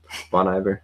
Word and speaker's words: Bon Iver: Bon Iver, how do you say it?